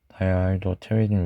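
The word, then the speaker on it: dihydropteridine: 그리고 여기 P는 묵음인 거 잘 아시죠?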